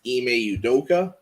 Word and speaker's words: Ime Udoka: is i beli apologies if i say his name wrong i think it's ime udoka uh he's been an assistant under popovich uh